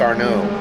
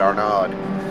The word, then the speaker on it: Arno: was funny um um arno it's a french name and i'm i'm going to say it's our no but i know that there are probably people out there that pronounce it our nod or our node almost got a lead